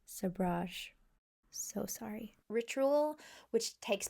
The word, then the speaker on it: sabrage: As you can see, I was unsure about this pronunciation and now know it is a French word pronounced sabrage.